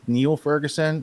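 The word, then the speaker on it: Niall Ferguson: So even though I think he pronounces it, even though it's spelled the same as the guy from the Imperial College COVID thing, but because he's Irish or Scottish, it's Neil Ferguson, and he was teaching at Harvard not too long ago.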